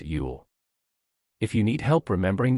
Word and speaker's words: ULL: in uncontrollable limited leverage or ull pronounced yule if you need help